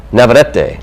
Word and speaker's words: Navarrete: Navarrete.